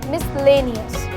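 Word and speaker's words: miscellaneous: अगर मैं बोलती हूँ मिसलेनियस, तो इसमें भी जब आप स्पेलिंग देखेंगे जो कि आपकी स्क्रीन पर आ रही होगी, तो S और C एक साथ आता है, बट हमने केवल S को प्रोनाउंस किया और C को छोड़ दिया।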